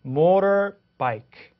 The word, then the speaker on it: motorbike: motorbike 그죠? 이렇게 발음하는데 T 사운드가 모음 사이에 왔죠. 이럴 때는 T를 motor라고 해서 강하게 motorbike 이렇게 하지 않고 motorbike라고 발음을 하게 됩니다.